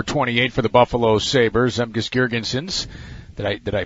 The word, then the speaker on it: Zemgus Girgensons: He is number 28 for the Buffalo Sabres, Zemgus Girgensons. Did I pronounce it right?